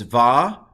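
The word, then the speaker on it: וַיְהִי: So the way you pronounce this is va-yahi, va-yahi.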